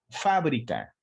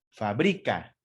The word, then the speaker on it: fábrica: Si yo coloco la sílaba tónica en esa palabra, en la penúltima sílaba, no en la antepenúltima, en la penúltima sílaba, es decir, en BRI, sería fabrica. Y entonces ya cambia digamos, el contexto de la palabra y el concepto de la palabra. No es lo mismo fábrica que fabrica.